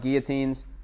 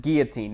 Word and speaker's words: guillotine: times, fucking throwing up guillotines. By the way, guys, pronounce it guillotine, not guillotine. I only say gilly if it's a gilly, not a guillotine.